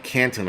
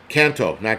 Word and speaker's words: Canto: And that actor who was in it, Aiden Canton, I think that's how you pronounce it. Right, Adriana. Canto, not Canton, Canto. He just passed away at 42 years old with a sudden bout of appendix cancer.